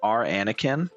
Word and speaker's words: Aranakin: By the way, chat, there's an Arinara whose name is R Anakin or Aranakin, but they call but it's like R Anakin. Like it's spelled like Anakin, like Anakin Skywalker, and he hates sand.